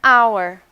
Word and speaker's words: hour: Quando pronunciamos a letra H, a hospital, a hotel. E quando não pronunciamos, an hour, an honor.